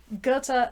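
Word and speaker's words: Goethe: which translation you read Gerta verta Gerta rhymes with verta that's how you work out how to say the both of them um verta dies a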